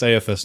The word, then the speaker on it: Aethys: Seems really obvious that it's pronounced Aethys now.